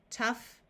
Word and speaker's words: tough: the sound of f in these words the o u will have a short u sound so we have rough Tough Enough in this word we